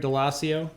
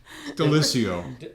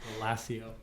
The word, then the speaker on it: Daliessio: Did I say that right? No. I didn't. I'm leaving now. I said my name wrong. I knew that was going to happen. Daliessio. I was close. Yeah. Daliessio. Yeah.